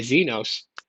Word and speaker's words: Exynos: if they build their Exynoses a certain way then the same way they build their Exynos processor or a Zenos um is actually pronounced then they're going to build, you know, tensors the same way.